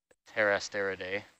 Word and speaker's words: Pterasteridae: But all the slime stars belong to the same family, Pterasteridae, with a silent P, PT.